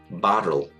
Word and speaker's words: bottle: 대표적으로 약해지는 경우를 보면 물병 bottle BOTTLE인데요. 이 TT가 연속자이기 때문에 하나의 소리로 그냥 T 발음이랑 똑같습니다. 근데 뒤에 L이 나오다 보니까 얘가 리을로 소리가 나죠. R 발음이 되는 거예요. 그래서 bottle 이렇게 소리가 나고요.